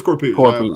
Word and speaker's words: Corpuz: Is that how you pronounce it? Mm-hmm. It is Corpuz.